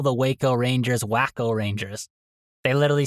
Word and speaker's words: Waco: Like, if you didn't know the name of the city or the town, it reads like Wacko in my opinion, but Waco is is the way it is to be pronounced.